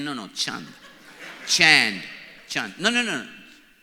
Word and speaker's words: Chand: my name is not Chand my name is Chand Chand like that's the pronunciation of my name Chand so I came to